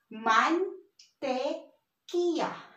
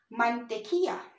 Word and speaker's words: mantequilla: And remember in our abecedario, if it's the double L, it's pronounced as Y. So this is mantequilla. Again, mantequilla.